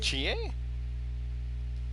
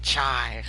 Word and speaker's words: Chie: Chie? Because it's Japanese, Rena. That's how Japanese is pronounced. It's how it's pronounced, Rena. It's not chai.